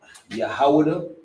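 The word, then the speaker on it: יהודה: In the Hebrew, it's pronounced Yahudah, which is the tribe of Judah, the so-called Negroes.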